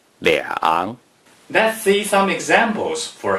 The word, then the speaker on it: 两: a major word or when the number 2 is used,to describe the amount of something, no matter if the following character is the first tone, the second tone, the third tone, the fourth tone, or the neutral tone. The number 2 is pronounced 两.